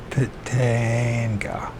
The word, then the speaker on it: Pitanga: On July 23rd, 1947, near Pitanga, Brazil, is that pronounced Pitanga? Pitanga.